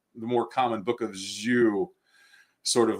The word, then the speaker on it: Jeu: It's Jeu. And so you either say it by saying Yu, if you want to be more faithful to the Hebrew language, or you say the